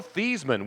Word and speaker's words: Theismann: Joe Theismann, which does not rhyme with Heisman.